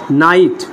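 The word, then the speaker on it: knight: এন আইজিটি কি হবে নাইট কি কি হবে নাইট কি হবে নাইট বুঝতে পারছো কি তাহলে শব্দের শুরুতে কে এন থাকলে তার উচ্চারণ হবে দন্তন ন এর মতো তাহলে দেখতো পরের উচ্চারণটা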